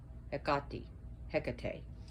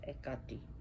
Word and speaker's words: Hecate: Sometimes she's confused with Hecate, Hecate, as we would say, but she's Hecate in Greek.